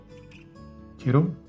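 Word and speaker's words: Kidde: And that's the one that I use made by kiddo. That's how you say it.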